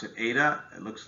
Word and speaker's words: eta: efficiency we use this greek letter um we pronounce it eta it looks like a little z a little